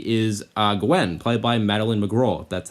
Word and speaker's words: Madeleine McGraw: The main character in this movie is uh Gwen, played by Maline McGro, that's how you say her name.